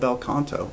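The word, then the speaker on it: bel canto: technique it's an old opera technique it's called belcanto yeah that's how you pronounce it yeah and it's it's amazing that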